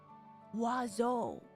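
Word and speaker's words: oiseaux: H the singulars pronounce wazo how do you pronounce the plural wazo it's guys it's it's this it's the same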